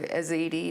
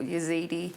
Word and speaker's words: Yazidi: yeah yeah yeah okay there's a few different ways of saying it depending on who you talk to so aziti or yazidi okay um yeah so